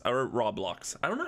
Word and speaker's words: Roblox: you Robo blocks our raw blocks I don't know how to even say the word how do you say it I would say roblox roblox let's just we've determined it's now roblox so the question guys